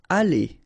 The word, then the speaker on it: aller: Aller, okay, R at the end, when you combine then you pronounce it E, aller.